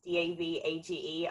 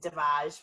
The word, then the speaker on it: Davage: You can find me at Davage, which is Davage. I always say it's Savage with a D because people always pronounce it Davage, which I'm not that But do posh.